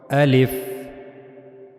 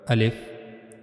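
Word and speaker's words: ألف: So now the articulation point of the al if as you can see in this picture this is the pronouncing point of the al if the empty space of your mouth.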